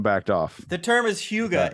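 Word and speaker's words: hygge: like yes everyone backed off the term is Huga it's spelled h-y-g-g-e off It's gotta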